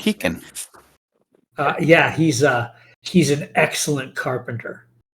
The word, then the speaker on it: Keaquen: Keegan, spelled Keaquen. Spell that again? Keaquen. What kind of monster doesn't put a U after the Q? So He doesn't want the qua sound. He wants the Hashtag kuh fantasy sound.